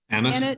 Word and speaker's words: Annett: Am I pronouncing your name properly, Kevin? Annett? Yes, that's good. We're so glad to have you back.